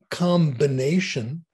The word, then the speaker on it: combination: Why do we pronounce the B in combination, but not in combing.